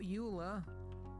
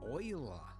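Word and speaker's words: Euler: Not uler. Oiler. Yes, I know. They went with the weird pronunciation.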